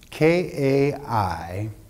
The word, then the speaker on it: kairos: K-A-I-R-O-S, the Greek transliteration, pronounced kairos, means opportunity.